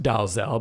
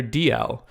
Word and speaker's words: Dalzell: that I realized his last name was not pronounced Dalzell but was rather DL which was a I felt pretty dumb anyway